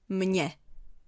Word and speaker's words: mně: The last category is m, where it's pronounced as ně, so it sounds like this. Mně.